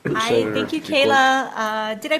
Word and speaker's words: Kayla: Kayla. Did I pronounce that correctly, Kayla?